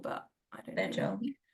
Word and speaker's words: Tejal: there's two different types of T's. There's a hard T, ter, and the soft T, which is not in the English language, like pronounced the. So I actually should be pronouncing my name as Tejal, but I don't know.